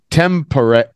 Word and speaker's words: temporary: Lily, temporary, and again, not porary, temporary. Temporary. Yeah, temporary. Temporary. Temporary. Temporary. Yeah, and actually the stress is on temporary.